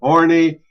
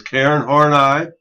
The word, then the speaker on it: Horney: Okay, our next theorist is an individual by the name of Karen Horney. That is not pronounced Horny, even though her lifestyle may have indicated that. But it is Karen Horney.